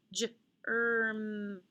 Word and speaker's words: germ: This word has a G followed by an E, so right away I know it's going to be a soft G sound, J. The hard G sound is G, soft is J. Okay. I also see a combination ER, so now I can sound out that word germ, germ, a germ or a cootie, a germ.